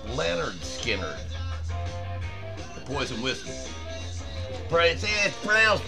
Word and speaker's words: Lynyrd Skynyrd: to slash in Leonard Skynyrd from the album pronounced Leonard Skynyrd and that is Leonard Skynyrd not Lynyrd Skynyrd it's leonard skinner the poison whiskey princess crown right there you